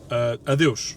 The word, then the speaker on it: Adeus: Adeus. That's how you say it in Portuguese.